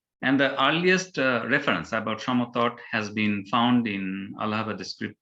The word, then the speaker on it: Samatata: As it is Samatata, though in English we pronounce the pronunciation is like Samatata, but actually in Bangla we call them Samatata, and it is near Mainamati of Kumilla.